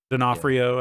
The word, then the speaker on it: D'Onofrio: Vincent, Dorfino. yeah, Vincent Dorfino. D'Onofrio, I think is how you say it.